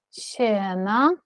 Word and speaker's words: tjäna: Здесь всего одна N. Да? Mm-hmm. Всего одна N. Сена. И тогда вот это «э» будет длинное. Mm-hmm. Ты должна произнести длинно.